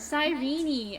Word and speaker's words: Cyrene: Cyrene.